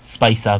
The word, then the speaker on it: Spica: I pronounce it Spica because she's spicy.